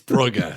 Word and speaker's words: Brugge: You've been saying it wrong forever. It's Brugge.